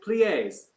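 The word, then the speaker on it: plié: okay let's start with plies how do you say plies and she said plie and i say ah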